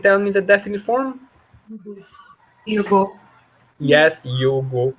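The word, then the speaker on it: jug: We say yug. At the top, do you see it there? Yug. Yes. Definite form. Anyone can tell me the definite form? Yugo.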